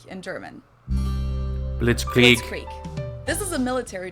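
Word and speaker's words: Blitzkrieg: used way before that we pronounce it Blitz Creek in German and it literally translates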